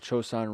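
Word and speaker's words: Chosin: But usually Battle of Chosun Ridge, Chosun Valley, Chosun Evacuation, Chosun It's spelled C.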